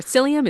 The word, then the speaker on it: psyllium: Yeah, yeah, and just to be clear, I've made this mistake before, psyllium is spelled with a P, P S, it's psychology, you know, so it's not selenium or something like that.